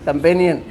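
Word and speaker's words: companion: हाँ, कई लोगों ने, मुझे भी याद आ रहा है, किसी ने कहा चैम्पियन, चैम्पियन नहीं, कंपेनियन।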